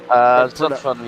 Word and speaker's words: Zolfen: Is that how you spell it? Say it, Alex? Zolfen, yeah. Right, Sam Berry has been given a warning for the incident with Sindri Johansson.